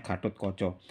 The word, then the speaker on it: Gatotkaca: ditulis pakai cocok gatotkoco tulisannya Gatotkaca Tapi bacanya gatotkoco tapi di ejaan Jawa